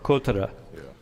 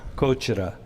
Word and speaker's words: 꺼져라: Kotara. How do I do? Shiba Kotara. There's a bit of a G in the middle. Shiba 꺼져라. Kochara.